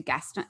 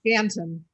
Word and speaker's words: Ganton: But I think about Ruth going home to her hometown, to Gaston. Do you pronounce it Gaston? Ganton. Ganton, sorry.